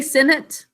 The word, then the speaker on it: senate: Okay, we say Senate though, right? Senate. Would you say Senate? Senate. That's the way we would pronounce it. Okay, Senate. How do we mark this? A says its name because of a silent final E, job 1. But it's in an unstressed syllable, so it says Senate.